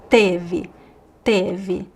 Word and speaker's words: teve: It's not tive, it's teve.